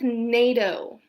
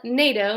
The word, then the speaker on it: NATO: Same with NATO, this is the North Atlantic Treaty Organization. We call it NATO, not N-A-T-O.